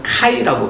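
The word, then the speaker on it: χ: 뭐 지금 그리스어도 마찬가지지만 거기서 우리가 영어식 알파벳 X는 거기서는 카이라고 부르는데요. 알파벳의 명칭이 카이입니다. X가 아니고 카이는 CH 크 발음이 납니다.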